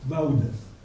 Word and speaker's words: Vaudès: Mais pour ceux qui parlent le provençal, savent que le AU en provençal se prononce AU. Donc, M. Vaudès, c'est Vaudès.